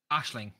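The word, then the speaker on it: Aisling: hello how would you how would you pronounce that Ashling we would I would nor say okay so it's not aing yeah I remember you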